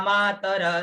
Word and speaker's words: मातरः: यहाँ जो छंद के बीच में जो अगर विसर्ग आता है तो उस विसर्ग का हल्का उच्चारण होगा, ठीक है, ये इस चीज का बड़ा ध्यान दीजिएगा। और अगर पूरा उच्चारण करोगे तो छंद बिगड़ जाएगा, जैसे देखिए इत्येता मातरः